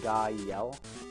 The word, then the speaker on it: Gael: Gael is actually, like, the way you spelled Guy and then Yell is actually the mnemonic I used to tell people how to pronounce my name properly, because people don't know how to say it, so I say Gael.